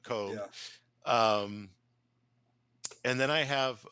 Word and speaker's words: Koeb: e b yeah um not like Kobe but coob um and then I